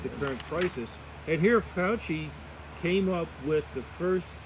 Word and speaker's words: Fauci: Fauci?